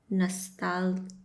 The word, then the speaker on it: Nostálgico: Nostálgico. Nostálgico. No, Nostálgico. Why they don't say the G's? The G is like a H.